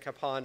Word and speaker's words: Kapaun: is that he probably was known by both capen and capone during his life and honestly when he was